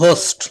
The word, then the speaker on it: ghost: গোস্ট হচ্ছে গোতের English তো গোস, না, তাহলে এই সেটা হচ্ছে গোস্টের ঘোস্ট, সেটা হচ্ছে ঘোস্ট, হ্যাঁ, উচ্চারণটা হবে ঘোস্ট।